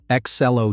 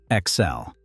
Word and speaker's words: Ex-Cell: hung out a sign, Ex-Cell-O Tool and Manufacturing Company. The name was a joke and a promise at the same time. Ex-Cell. Say it out loud and it sounds like a boast.